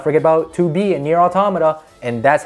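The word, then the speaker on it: NieR: Automata: oh and let's not forget about 2b and near automata and that's how you pronounce it by the way raccoon just just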